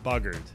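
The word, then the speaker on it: buggered: be some different ways to spell it but it's spelled b u g g e r e d buggard yeah I'll do an American accent buggard what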